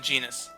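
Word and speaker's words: Genis: This here is our friend Genus. His name rhymes with penis.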